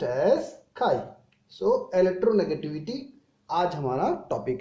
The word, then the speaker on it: chi: Let's start our next topic, electronegativity, which is represented by symbol En, or sometimes we write X, which is pronounced as chi.